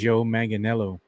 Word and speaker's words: Joe Manganiello: I have no idea how to pronounce his name correctly. Joe Manganiello.